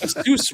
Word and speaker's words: Asus: don't even know how you're supposed to say Asus, like what? Asus. Yeah. I've always called it the Rogue, like the Rogue Ally or the Nvidia. No, it's Nvidia. It's pronounced Asus Rogally.